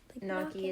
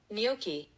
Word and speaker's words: gnocchi: this type of Italian double c h in Italian sound like the letter k.